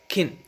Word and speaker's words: can: cans in this sentence the first scan is not even pronounced as can it's pronounced as kin we even emit the a and this is what native speakers do in weak forms she can speak spanish